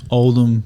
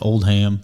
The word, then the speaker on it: Oldham: say your last name old them so like when I was in the military they stayed screwing it up and called it old ham so and uh a